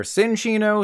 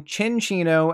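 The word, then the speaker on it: Cinccino: for these too they're sinchino stencino and mencino okay maybe it's not that many incorrect pronunciations but since these are based on Chinchillas you want to call them chinchino and minchino there is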